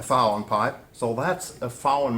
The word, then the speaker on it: VAUEN: So fen um well this is just uh the pronunciation in German for v and n.